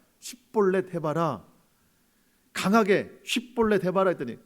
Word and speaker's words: 십볼렛: 십볼렛 해봐라. 강하게 십볼렛 해봐라 했더니 그게 안 돼요. 에브라임 사람들은. 우리나라도 이게 쌍시옷 안 되는 지역이 있죠. 그런 것처럼이라는 거예요. 지역상 발음이 안 되는 것들이